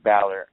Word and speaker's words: Balor: it I'm so confused is it Baylor or Balor I don't know which it is because think it's Bor some people say Balor I've heard balour I've heard like three different pronunciations of the guy's name I think it's Balor I he even mentioned his name is Balor so I think that's that's how it is it's Finn Balor yeah